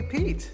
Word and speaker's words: Pete: his name remember yeah rhymes with feet yeah his name ryan's